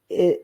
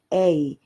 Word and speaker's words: aye: A is used today in Scotland to mean yes. You must have heard aye, but aye, sir, or yes, sir, but it is pronounced as both I or a.